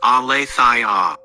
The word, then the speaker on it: Aletheia: Aletheia, pronounced Aletheia, is a Greek term that literally means unforgetting or unconcealment.